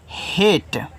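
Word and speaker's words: hate: देखो जब किसी वर्ड के बाद ए आए और ए को एक लेटर छोड़कर के इ आए तो यहां जो आप ए का उच्चारण करते हो ना वह ए की मात्रा के रूप में करते हो। ठीक है? और इस लास्ट वाले इ का उच्चारण आपको नहीं करना है।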